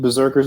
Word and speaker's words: BRZRKR: intro today is eight Berserkers berserking which means we're unwrapping foreign number one from boom studios in 2021. now for a brief history of this series and the creators Berserker which is spelled b-r-z-r-k-r is a comic book